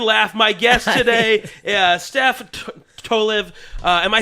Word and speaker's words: Tolev: My guest today, Steph Tolev. Am I saying that right? Yeah, Tolev, right?